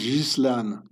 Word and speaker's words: Ghislaine: So, this name is being pronounced Ghislaine. It's an old medieval French uh name.